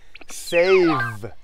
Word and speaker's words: save: เซฟ ไฟล์ เก็บ ไว้ save ได้ ยิน เสียง เะ มย คะ s a v e ไม่ ใช่ FE นะ คะ คน ละ ความ หมาย กัน เซฟ งาน ของ ตัว